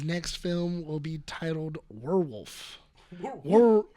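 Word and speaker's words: Werwulf: Robert Eggers says his next film will be titled Werewolf. Werewolf. I think it's pronounced werewolf, but it's spelled weird.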